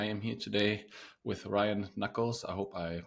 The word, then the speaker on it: Nuckolls: Ryan Nuckolls, you pronounced it just right.